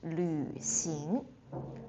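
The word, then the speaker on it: 旅行: The last one, traveling is lu xing. Lu. The lu sound is a bit difficult for some people. So, lu xing and it third tone.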